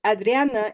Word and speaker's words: Adriana: In Spanish, Adriana is 3 syllables.